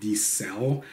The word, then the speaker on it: Di Ser: about the house of the cell pronounced are wrong in the past as the sad with an are but is actually just like cell phone I did find the